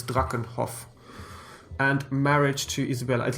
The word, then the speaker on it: Drakenhof: I believe if it's German, it's Drakenhof.